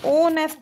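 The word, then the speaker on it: honest: और ऑनेस्ट में ओ से ओनेस्ट बोला जा रहा है। एच साइलेंट है।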